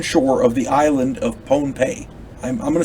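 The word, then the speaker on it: Pohnpei: of the island of ponpei i'm gonna say it's excuse me i'm gonna say it's pronounced ponpe because otherwise it sounds like pompeii over there in in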